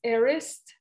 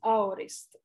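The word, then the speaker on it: aorist: tried to learn today it's arist or the way i would pronounce it is ourist a-o-r-i-s-t it's a it's a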